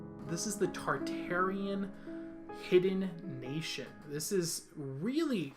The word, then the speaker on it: Tartaria: So the theory is that there is a land called Tartaria, also known as Tartarian. Tartai is another way it's pronounced sometimes, but more I call it Tartaria because it sounds cooler.